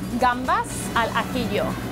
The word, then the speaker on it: gambas al ajillo: how do I pronounce this? So this is gambas al ajillo.